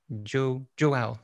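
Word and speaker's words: João: So if you have Visual Studio Code installed, there's an extension by Joao, that's how it's pronounced, Joao Pinto.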